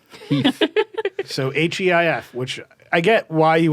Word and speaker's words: HEIF: in Apple's format, which they revealed that as a company, they pronounced Heath. Heath. So Heif, which I get why you would head towards Heath.